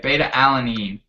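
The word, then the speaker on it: beta-alanine: say it alan i don't say it right beta alanine beta alanine alanine okay beta alanine and that's just like a um just uh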